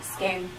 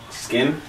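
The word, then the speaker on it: Skyn: Skin. Skin?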